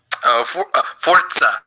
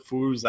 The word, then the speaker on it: Forza: Forza. Sorry. Thank you. Indeed. I'm so sorry. I've killed 6 Italian children by mispronouncing it.